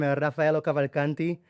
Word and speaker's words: Rafaello Cavalcanti: himself because I don't want to get your name wrong. Welcome to Elyon Dubai. Thank you very the much. podcast. Hi guys, I'm Rafaello Cavalcanti, as people know also as.